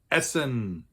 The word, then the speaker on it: Essen: important industrial city with almost 600,000 people is Essen which looks just like the German word for